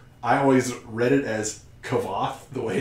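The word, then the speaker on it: Kvothe: he's telling the story Say it's roughly pronounced like Quoth, like Quoth the Raven. Yeah. But roughly pronounced like. Yeah. I always read it as Kavoth, the way it's written,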